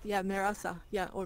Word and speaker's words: Mehrasa: But, do I mispronounce your name? Mehrasa? Mehrasa? Yeah, that's correct. Yeah, Mehrasa. Yeah, or Mehrasa too.